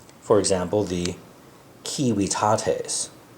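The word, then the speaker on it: civitates: Um, but it's pronounced like W. So, it's a WW sound. For example, the kiwiates, right? rather than the kivitates.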